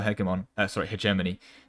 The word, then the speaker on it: hegemony: for the milary heon which is the best heon oh no I I should have pronounced it hegemony I messed up I had this whole thing